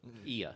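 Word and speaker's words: Oia: In fact, we walked almost halfway around the island up to, how do you pronounce it? Iwa? Yeah, we had that discussion before we started. Ia.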